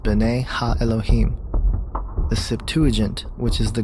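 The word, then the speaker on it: בני אלהים: of God mentioned here in the Hebrew is pronounced Bena Elohim the septu which is the Greek translation of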